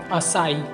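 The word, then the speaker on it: açaí: इसकी सही प्रोनाउंसिएशन है एक्चुअली असाई।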